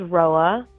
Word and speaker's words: Roua: My name is Roa. Weird name. I know. It means morning dew in Romanian. It's spelled Roua.